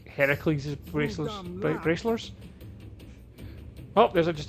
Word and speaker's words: Heracles: than that that thing with your voice the heracles yeah that that is how it's supposed to be pronounced seems like a lot of work but